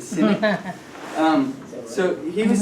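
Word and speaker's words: Sinek: not cynic but yeah you pronounce it cynic um so he was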